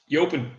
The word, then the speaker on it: Jopen: How do you pronounce your J's in Dutch? Jopen. It is Jopen. Okay, I have had Jopen beer before. And the other one are, okay, here we go. Jopen.